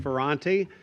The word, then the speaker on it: Fanti: I mess that up well if you messed it up you would not be the first one that that messed up the pronunciation of my name I'm fanti I'm a resident here